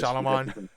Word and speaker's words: Shyamalan: Shyamalan.